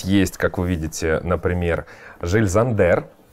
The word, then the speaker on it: Jil Sander: как вы видите например жиль зандер правильно произносить название именно так офигенно я вот такая